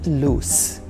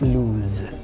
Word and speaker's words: loose: And you say, it's loose. Loose. Not lose.